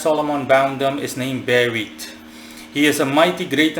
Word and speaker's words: Berith: Berith, the 28th spirit in order as Solomon bound them, is named Berith. He is a mighty, great and terrible duke, that's spelled B-E-R-I-T-H.